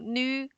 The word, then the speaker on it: 女: For example, this one, nu, it doesn't have the syllable nu because we don't have corresponding Chinese character for it. So for this one, it only have the third tone, nu.